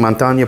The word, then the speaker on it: Montagne: I really have trouble pronouncing it because there's multiple ways to pronounce it. Montagne is my understanding, Montagne Parfums.